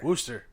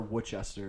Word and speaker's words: Worcester: weeks ago we did we went to Worcester Worster or Worchester as Mike would say yeah Wester yeah I don't know why it's pronounced it's spelled w r massachusett is a